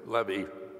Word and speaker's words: Levy: And later when the levy, as they pronounced the name, spelled as Levy, when the Levy family